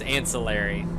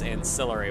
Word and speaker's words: ancillary: my staff about like ancillary versus ancillary, and they tried to call me out and say it was ancillary, and when you go to Google pronunciation, it is ancillary, which is how I was pronounce it, so it's satisfying to say, ha!